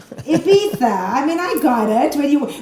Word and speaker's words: Ibiza: You even gave it the proper pronunciation. You went Ibiza, not Ibiza. Ibiza.